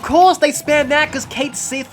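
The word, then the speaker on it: Cait Sith: they spam that because kate sith or how do you how you pronounce it like kaishi or something um because it's scottish uh or celtic at least but uh because he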